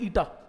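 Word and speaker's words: eta: इसको प्रोनाउंस करते हैं ईटा।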